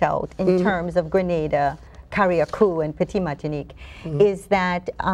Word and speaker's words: Carriacou: Grenada, Caracou, and the Petite Martinique. Excuse me. Oh boy, The contacts. touchy area. You have to say it right. It's Carriacou.